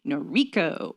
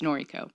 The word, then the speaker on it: Noriko: They would say Noriko, and I didn't like it. It's Noriko.